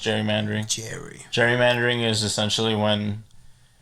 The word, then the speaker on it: gerrymandering: it's spelled with a G, but it's pronounced gerrymandering.